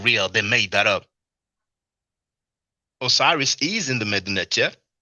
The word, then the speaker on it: Osiris: Osiris is in the Mednecher. It is Usil. The Greek pronounced it Osiris.